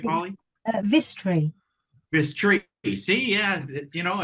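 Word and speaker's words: Vistry: Is that, am I pronouncing that right, Polly? Vistri.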